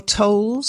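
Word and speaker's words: Towles: moscow by i'm not quite sure how to pronounce his name amor tolls that's right told he's an american an american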